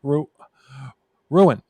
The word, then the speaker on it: Roughan: Ken Knight and Barbara Ruin. It's spelled Roughan, but I think it's pronounced Ruin. Like ruin.